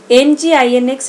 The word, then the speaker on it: NGINX: Some examples of web servers are Apache, the most popular one, IIS, Microsoft's Internet Information Server, NGINX, it is pronounced as Nginx, GWS, Google Web Server, and NetSite.